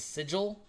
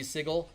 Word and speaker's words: Sigil: thinking that it was always supposed to be Sigle when everyone since 1992 has been calling it Sigil with a soft G.